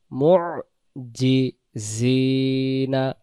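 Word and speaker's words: مُعْجِزِينَ: লা তাহসাবান্নাল্লাযীনা কাফারু মু'জিজিনা, উচ্চারণ ধরেন, খেয়াল রাখেন, আইন অক্ষর, জিম অক্ষর জিব্বার মাঝখান থেকে জি, এবার সামনের দাঁতের অংশের কাছাকাছি থেকে হবে জিনা, জিনা, মু'জিজিনা, দুইটা দুই রকম।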